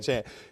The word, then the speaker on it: Achane: I believe they did a better job of holding Mostert, holding Achane. Did I pronounce that right? Yes, you did. Achane, to make sure that they weren't able to get too much explosion on them.